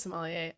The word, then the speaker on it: sommelier: he's good how do you how do you pronounce what is it somewhere oh yeah yes google did me dirty sommelier it is sommelier it is yeah it is tends to be